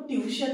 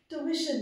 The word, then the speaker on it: ट्यूशन: भाई तो आज से हमको ट्यूशन नहीं जाना है हमको ट्यूशन जाना है ट्यूशन ठीक है दिस इज इट इज